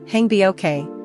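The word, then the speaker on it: 행복해: The vowel in "haengbokhae" is a single open "e" sound, similar to bed in English, not "i".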